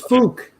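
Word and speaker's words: Phuc: like that i mean pronounce it like that name is fook but change the change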